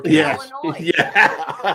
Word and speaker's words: Illinois: silent the S is the S is silent on Illinois but no e no